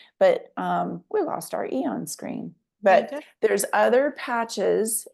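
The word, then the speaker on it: Aeon: But um we'll just I want to get to the next screen, Joy, and show them what um Eon does.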